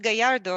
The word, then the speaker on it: Gallardo: just learned the thing that's your name pronounced gallardo i i i know you for like three years yes but i i never called you by your last name there you go like the lamborghini yes irene catella oh